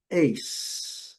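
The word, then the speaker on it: ace: Eis o e não é pronunciado. Estamos trabalhando com com a com a lição de silent e eis. O a vai ter o som. Qual que vai ser o som do a? Vai ser o seu som longo.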